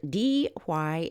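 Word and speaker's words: Dee Why: From Cromer, Blake Hurst also took photographs of this object at a place called D.Y. Beach. Let's spell that D-E-E, second word, W-H-Y, beach.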